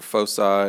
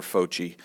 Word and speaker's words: foci: so these points are called focal points or Foe side or foci i'm not sure i've heard it pronounced a lot of ways i prefer fo chi so the two foji